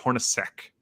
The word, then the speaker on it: Hornacek: Jeff Hornacek.